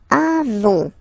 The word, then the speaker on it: avons: Then, nous avons, final s, not pronounced.